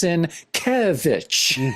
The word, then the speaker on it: Sienkiewicz: Oh yeah, and I still hear people mispronounce it all the time. But I love even on his Instagram, too. It's it's Sienkiewicz, you know, the Kev is in in all